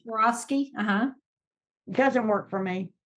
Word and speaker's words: Swarovski: She sells the Swarovski, how do you pronounce that? Right, Swarovski.